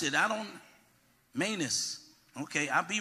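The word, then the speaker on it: Manous: your name oh well tell me how to pronounce it I don't Manus okay I'll be right with you in a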